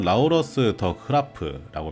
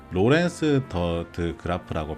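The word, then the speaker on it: Laurens de Graaf: 나오면서 이렇게 산다는 거죠 그러면 라우러스 더 크라프라고 표현되어 있죠 여기는 라우러스 더 흐라프라고 되어 있는데 로렌스 더드 그라프라고 표현하는게 더 맞는 거 같아요 이거는 득규님식 발음 고증인 거 같고 로렌스 그래프라고 보는게 맞는 것 같습니다 이분이 누군가를 봐야 되겠죠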